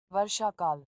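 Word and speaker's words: वर्षाकाल: traduction, enfin la traduction, la prononciation en tout cas, en hindi de ce mot-là qui s'écrit Varsakala. Varshakal. Varshakal.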